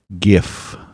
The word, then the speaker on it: gif: then yeah it's it's gif is pronounced like gift then yes it's it's github